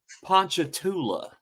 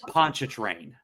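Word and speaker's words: Pontchartrain: started asking me questions like how do you pronounce this place? Yeah. And I was like uh Ponchula. It's actually called Poncha Train.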